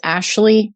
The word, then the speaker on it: Ashlea: my name, which is Ashlea. And you spell that a little differently. It's Ashlea for Ashley.